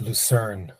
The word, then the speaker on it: Lucerne: I say it Lucerne.